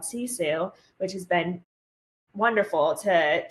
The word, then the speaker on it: Sisu: SISU, right? It looks like Sissa or something like that, but it's Sisu.